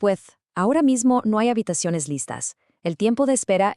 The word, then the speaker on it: habitaciones: Same with habitaciones. It's habitaciones.